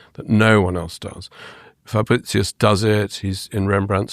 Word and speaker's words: Fabritius: Well, Fabricius, as I've been taught to pronounce him.